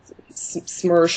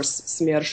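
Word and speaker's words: СМЕРШ: In regard to SMERSH or SMERSH as we pronounce it, it's basically a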